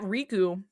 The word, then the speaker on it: Riku: So, um, and like in Japanese, they have like a slightly different pronunciation. Like the emphasis is a little different, but like to the English- speakaking audience, RKU is Riku. It's not It's not different.